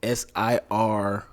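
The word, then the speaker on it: Cîroc: It's the last C is a K. Oh, it's a K in that. Ciroc. Okay. And it's a S, so it's SIROK. It's the bootleg Ciroc.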